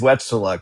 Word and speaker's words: Wechtaluk: I appreciate the concern on it, but no, it's Wet to look, so you you got it.